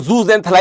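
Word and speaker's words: zooxanthellae: ना कहीं शैवाल जो जूज एंथला जिनको हम कहते हैं ठीक है यहां पे आप देखिए स्पेलिंग भी देख सकते हैं जूज एंथला या जूज एथली दोनों ही कहते हैं तो एक उनको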